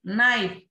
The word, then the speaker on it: knife: Knife, here K and E.